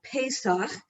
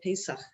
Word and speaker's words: Pesach: It's Pesach, and that's how you pronounce it, Pesach.